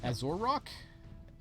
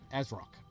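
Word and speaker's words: Azrok: Azrock. Nice. Azar? So, nailing it. No, because the O can't reach past the Z, so Azrock.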